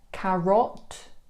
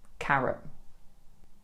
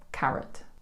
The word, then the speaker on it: carrot: Carrot? No. Again, we switch the O for the Schwa sound. The natural pronunciation is carrot or carrot if you want to pronounce the T on the end.